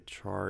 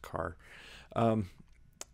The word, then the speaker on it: char: And I just covered the int and the char in that video. I know I always say char, but I think it's actually pronounced car.